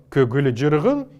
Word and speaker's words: көгілжіргін: И таким образом слово «көгілжіргін», имеющее 6 согласных подряд, должны прочитываться с фоновыми звуками между каждым из этих звуков.